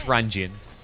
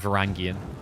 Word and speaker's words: Varangian: I think some places pronounce it Jun and some pronounce it Gian. But basically, the beginning is Varangian instead of Gian. J, not G.